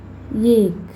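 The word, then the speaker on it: एक: First ஏக் ஏக் ஏ plus இக். கா வந்து முடிகிறப்ப வரப்போ இக்குன்னு ப்ரொனவுன்ஸ் பண்ணணும். ஏ இக் ஏக்.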